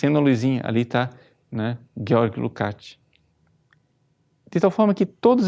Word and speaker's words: Lukács: com o pensamento de um senhor chamado Georg Lukács, na verdade, a pronúncia, Lukács, que fala de conscientização.